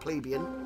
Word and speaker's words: Plebeian: That will have helped Plebeian.